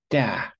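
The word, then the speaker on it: 大: This one, da, which means big, looks a bit like a person stretching their arms out.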